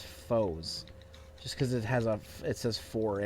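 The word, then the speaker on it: Fourze: on this is is people say Kamen Rider fours because it's spelled that way but that's not how they say it they say foes and people say no it's foes a I'm like no you take off the a that's that's that's they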